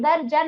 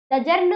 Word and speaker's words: दर्जन: द जर्न होता है दर्जन होता है दजन होता है दर्जन होता है दर जन दर जन द और ज के बीच में उच्चारण हो रहा है क्या द और ज